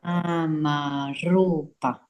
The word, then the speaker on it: Namarupa: And we're going to get Flavia to roll that R, because that is a regular consonant R. Namarupa. Perfect. Namarupa. Good. And so we see that it has 4 syllables, but 6 beats.